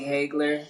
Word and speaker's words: Hagler: then my dad told me it's really Hagler. So you can say whichever one you want because my dad didn't care about making sure I was Okay.